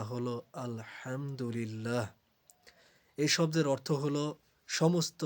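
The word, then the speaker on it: الحمد لله: উচ্চারণ করি তা হলো আলহামদুলিল্লাহ এই শব্দের অর্থ হলো সমস্ত প্রশংসা আল্লাহর জন্য এখন আমরা অনেকেই ভুল করে আলহামদুলিল্লাহ পাতলা হা এর জায়গায় মোটা হা ব্যবহার করে বসি তখন শব্দ টি হয় আলহামদুলিল্লাহ।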